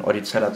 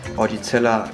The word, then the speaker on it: Eudicella: Und zwar haben wir heute keinen Oedicella cyprolaris, sondern einen Oedicella oedicella.